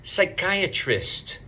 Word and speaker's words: psychiatrist: a hard one don't say psychiat don't say the P say psychiatrist psychiatry psychiatry where is